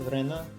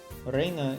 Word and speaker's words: Rena: So her written name is Reina, but pronounces Rena, right? It's right to pronounce it that way, isn't it? No, you're wrong. Reina is the right way to pronounce it. Rena told us. She told us she wanted to be called Rena. That's why we call her Rena.